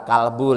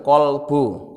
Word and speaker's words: qalbu: itu yang terkena al-qolbu eh bukan kalbu ya karena bahasa Arab itu kalau sudah diindonesiakan itu suka jadi berubah pengucapannya yang bener itu manajemen Qolbu kakek kost dirubah pakai ejakan Indonesia manajemen kalbu kalbu itu kalau bahasa Arab artinya anjing beda sekali kan qalbu hati kalbu anjing bingung nah ini qalbu